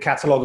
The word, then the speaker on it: Qatalog: people find you and catalogue online because it's not catalog spelled with a c right it's q a t a log dot and i'm on